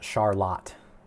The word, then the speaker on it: Charlotte: Charlotte is pronounced Charlotte here in Michigan.